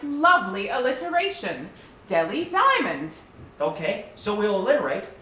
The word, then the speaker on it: Delhi: It's Delhi, not Deli. Billy, that H is silent.